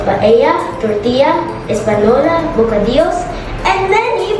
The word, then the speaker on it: paella: Mostly sa ating mga Pilipino, ang pronunciation natin ng paella is paella. But ang authentic na way how to pronounce it is paella.